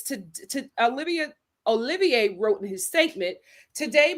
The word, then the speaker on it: Olivier: The first thing that I wanted to talk about with uh you guys is Oliver.